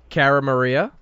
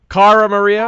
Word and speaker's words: Cara Maria: Wait, what's my name? Carara Maria. Say it again. Carara Maria. Cara Maria. Car. Car Maria. I'll start the interview with like how to say my name. Cara Maria. Car Maria. There you go.